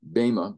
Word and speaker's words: Bema: And the whole purpose of the Bema, B-E-M-A, Bema, Erasmus Greek. There are two ways of pronouncing Greek words, and I'll maybe explain to you why that is someday. But anyway, the modern would be Bema, and the Erasmus would